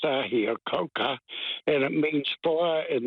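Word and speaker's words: Ahikouka: parents farmed in a in an area called I Coke just north of greytown and it's actually pronounced I here coka and it means fire in the Cabbage tree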